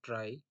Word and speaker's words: trie: so question कहता है कि अ ट्राई, pronounced as try or prefix tree, is a tree